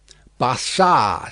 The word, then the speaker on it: Barsad: "Bassard," said Defarge, making it French by pronunciation. But he had been so careful to get it accurately that he then spelt it with perfect correctness.